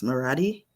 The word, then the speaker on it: Murati: Marathi, is that how it is? Yes, Marathi.